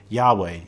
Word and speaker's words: Yahweh: K, or YHW, or Yahweh, or however you want to pronounce it. We don't really know how to pronounce it. That's a great secret. But we just sometimes phonetically pronounce it Yahweh.